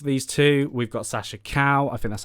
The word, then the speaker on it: Calle: Now, obviously above these two, we've got Sasha Calle.